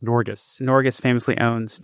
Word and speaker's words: Norges: They had the Norwegian Sovereign Wealth Fund, which I believe is pronounced Norges.